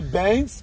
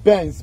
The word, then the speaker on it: Bence: Bounc Island originally Bence, okay. Now we get the actual pronunciation, Bence, B-E-N-C-E, was at the limit of the navigation for ocean-going vessels.